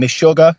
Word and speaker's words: Meshuggah: Say that some of your riffs were influenced by I always screw up their name, Meshuggah.